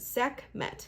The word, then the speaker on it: Sekhmet: Her name is pronounced Sekhmet. Yes, I did pronounce that right.